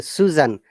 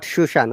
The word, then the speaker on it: Susan: a schwa sound okay susan not shushan okay susan susan dash to the cinema